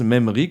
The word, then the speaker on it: MEMRI: pourront après l'émission se référer à cette adresse même ri comme ça se prononce m haies mairie point fr on a